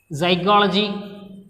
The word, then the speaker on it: psychology: So, look at the word psychology. So, here also P is or per sound, P is silent.